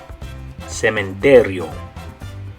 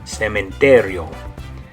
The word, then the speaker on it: cementerio: In Spanish, it's going to be this word, and you're going to say cementerio. Cementerio.